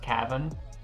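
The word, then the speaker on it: Caven: up my name like my name is spelled c-a-v-e-n but it's pronounced Kevin so it'd be like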